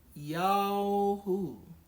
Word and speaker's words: Yahu: Então você vai verificar que é um som de A para O. Então assim, A, O, AU. Esse intermediário é a pronúncia e a gutural. Então quando você for invocar o nome verdadeiro do Pai, você vai dizer simplesmente Yahu.